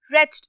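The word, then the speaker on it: wretched: रेच्ड, again W जो है वो है साइलेंट, तो हम पढ़ेंगे रेच्ड।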